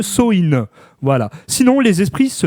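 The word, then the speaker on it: Samhain: il fait il fêtait Sam Anne. Et oui, prononce prononce-le Soï.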